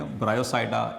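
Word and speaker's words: Bryopsida: इसमें P silent है इनमें, ठीक है। इसमें ब्रायोप नहीं पढ़ेंगे, ब्रायोसाइडा। इसी तरह इसमें पी साइलेंट है, एंथोसिरोसाइडा, और इसमें हेपेटिकोसाइडा, ठीक है।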